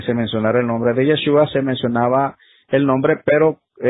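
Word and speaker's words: ישו: O sea que el nombre de Yeshua tenía que ser transliterado al griego, y ahí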